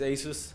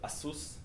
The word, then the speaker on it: ASUS: Um our first customer you can see is ASUS uh or uh as they call themselves ASUS. uh this is how you can actually pronounce it in Taiwan and we are actually launching next month uh with them.